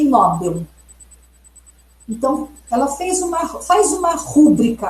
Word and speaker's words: Nobel: Então, se vocês observarem na gramática culta, na norma culta, como deve ser a pronúncia? A pronúncia considerada correta é rubrica, gratuito e Nobel.